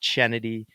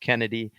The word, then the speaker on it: Chennedy: up Kennedy Carter and that's Kennedy Carter with an H not chennedy it's pronounced Kennedy um but Kennedy checked